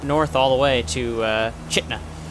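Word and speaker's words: Chitina: We're going to be making a left turn following that up north all the way to Chitna, since that's apparently how the locals pronounce it.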